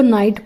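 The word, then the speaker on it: knight: द नाइट, इसको नाइट पढ़ेंगे, नाइट नहीं पढ़ेंगे, यहाँ पर के साइलेंट है।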